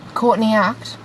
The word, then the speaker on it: Courtney Act: No, that's not how you say it. Courtney Act. Caught in the act. That's what it is.